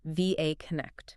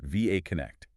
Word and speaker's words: VA Connect: And just for our listeners, that's pronounced like the letters. VA Connect, right? VA Connect.